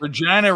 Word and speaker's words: Regina: Regina rhymes with vagina.